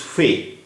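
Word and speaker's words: ف: 26th letter of Urdu alphabet is Fe. Fe. It is pronounced like F in fat. Its sound is similar to F in English.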